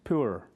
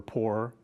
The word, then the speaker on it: pur: year of King Ahasuerus, they cast pur, or pour, I guess is how you pronounce it, that is the